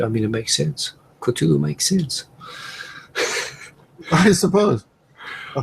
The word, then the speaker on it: Cthulhu: Cthulhu, is that how you pronounce it? Cthulhu, yeah.